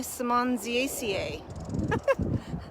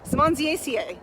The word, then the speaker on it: Simmondsiaceae: Simonsia chinensis in the family Simonsiaceae. Simonsiaceae. I think that's 6 syllables.